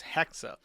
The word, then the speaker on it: Hexa: Um, however, her name is Hexa, as in like hexagon, and she's on hiatus.